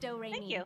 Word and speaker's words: Doremi: name is doremi midorikawa it's spelled like notes and pronounced doraemia it's one of those weird